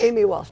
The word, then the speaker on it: Amy Walsh: Uh, how am I pronouncing your name? Amy Walsh. Amy Walsh.